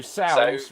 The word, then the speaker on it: sows: So sows rhymes with cows.